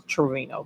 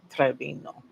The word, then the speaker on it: Trevino: She said Trevino. I was like I didn't know it was I thought it was Trevorino, but it's Trevino. Um, you don't have a laser.